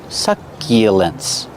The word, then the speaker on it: succulents: Use the short uh like up and cup. Suck. Succulents.